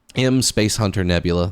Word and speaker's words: M Space Hunter Nebula: Um, M Space Hunter Nebula, that's how it's said, by the way.